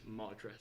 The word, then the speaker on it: Madra: It's Madra. Madra.